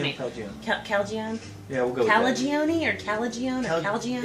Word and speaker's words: Calagione: sam calgeon calgeon however the hell are you pronouncing this calgeon yeah calagione or calagione it's own not only i heard